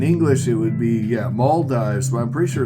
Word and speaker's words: Maldives: it it's in English it would be yeah Maldives but I'm pretty sure it's Mal Dives but I'm not sure okay uh I'm going to type in pronunciation here we go males males I